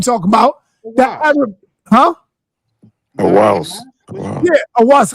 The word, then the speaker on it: Zahi Hawass: Awaz. Yeah, Awaz. How you say it? Zahi Hawass.